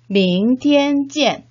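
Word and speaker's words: 明天见: 明天见 밍티엔 찌엔. 혹시 명태찜으로 들리시진 않으신가요?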